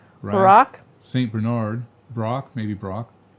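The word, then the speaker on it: Braque: Bernard Brock maybe Brock spell it again be a br a qu e that's Brock Brock you barbecue is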